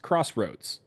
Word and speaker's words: X-Roads: Also, X Roads Warriors, and X Roads is pronounced Crossroads.